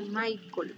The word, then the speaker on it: Mitchell: Me dijo, mi nombre se pronuncia Michael, me dijo.